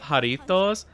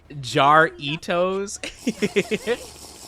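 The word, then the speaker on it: Jarritos: Uh I realized I whitewashing the name of Haritos. I pronounced it jaritos.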